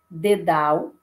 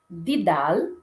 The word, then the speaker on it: dedal: Em alguns dialetos do português, ocorre e o pretônicos, ou seja, antes da sílaba tônica, em palavras como dedal, modelo, enquanto que em outros dialetos ocorre e o pretônicos nas mesmas palavras, como didal e modelo.